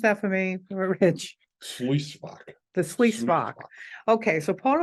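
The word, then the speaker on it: Sluyswacht: Could you pronounce that for me, Rich? Sluisvak.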